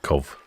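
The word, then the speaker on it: Cobh: Port jonan Miss say Americans always call cob cob I think he wants me to call it COV C Trust trust people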